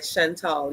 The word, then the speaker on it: Chantel: so Cakes by Chantel am I am I saying your name right Chantel you're saying it right Chantel yes perfect okay so